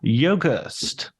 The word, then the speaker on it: Yogerst: And today I'm going to be talking to Chris Yogerst. How did I do? Did I nail the pronunciation?